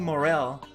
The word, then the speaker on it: Morell: us today so very happy to have morell with us right morel i i'm pronouncing your family name greg you are yeah